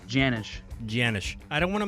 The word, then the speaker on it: Janisch: Yeah, it's Janisch. Janisch. I don't want to mess it up because you know the S could That's be nice. silent and stuff. Could be all messed. Yeah, the C is silent.